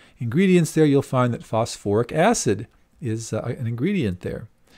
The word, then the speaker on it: phosphoric: So is it phosphic? Well, we just said for the phosphorus acids, we add the little extra syllable there, so it becomes phosphoric acid.